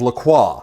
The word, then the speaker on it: LaCroix: a flat can of lacroix the ghosts of flavor and no fizz and women want the fizz and the flavor also yes it's pronounced Lacroix don't at me these guys end up